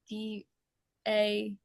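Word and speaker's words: Daiya: Yeah, I don't know if I'm pronouncing it right, but like D A Y I. Yeah. Yeah. Thank you. Some people say DA, some people say DEA.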